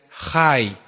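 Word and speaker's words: חי: Esta raíz está relacionada con la vida y se pronuncia Jai.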